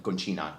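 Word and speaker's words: Concina: himself as dj robert miles dj roberto conquina conchina is the right pronunciation and i was like i really want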